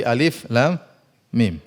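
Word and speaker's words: الم: Jangan dibaca seperti Alif Lam Mim Jangan dibaca alam tapi Alif Lam Mim Alif Lam Mim HAM mim dibaca ha mim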